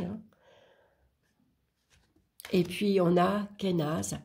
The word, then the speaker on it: Kenaz: Et puis on a Kenaz, ou Ken, moi je le prononce Ken.